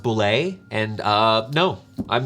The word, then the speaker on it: Bulette: Bullet. Yeah. Bullet? Yeah. Yeah. Sorry. No. There's the person who created it says it's pronounced boulet, and no, I'm not gonna use that one.